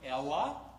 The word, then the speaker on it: ELAA: ELAA, which we pronounce Ella.